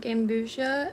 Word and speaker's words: Gambusia: food over there and these fish are called gambusa and how you spell it is g a m b u s